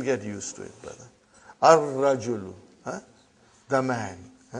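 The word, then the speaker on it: الرجل: Ar-rajulu. The man. Not al-rajulu. It will be wrong to say al-rajulu. It will be Ar-Rajulu.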